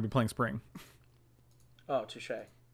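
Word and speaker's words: touché: Oh, touche. It's pronounced touche.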